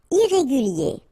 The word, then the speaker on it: irrégulier: Irrégulier. Okay, remember, IER at the end of your word here, it will be ye, okay? Irrégulier.